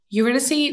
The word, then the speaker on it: Eurydice: Eurydice is how a lot of the media pronounces her name, but I believe she pronounced it Eurydice.